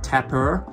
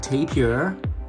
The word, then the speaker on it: tapir: asian animal which is known as tapper you can also pronounce it as some tapir all right we have